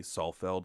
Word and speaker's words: Saalfeld: And it is spelled, for people, it's Saalfeld, Salfeld.